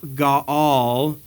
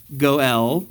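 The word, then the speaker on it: go'el: the kinsman redeemer GA Gaal in Hebrew but for some reason in English they always pronounce it as goel I don't know how it ever became goel but I I I'd like to fit in so I'll stick with that this is the law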